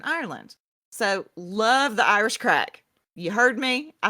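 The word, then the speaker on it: craic: and I looked up the definition and the pronunciation Irish listeners I swear and it said crack and for those who don't know that is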